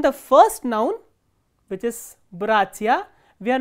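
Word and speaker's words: братья: For example, look at the word bratia. Here stress is on the first syllable, not on the ending.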